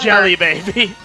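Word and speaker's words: Djelibeybi: with Prince tepic uh of uh remind me Jelly Baby Jelly Baby thank you uh I'll put it I'll put how that's spelled on screen and post but yes it's pronounced jelly baby because I remember like um in a different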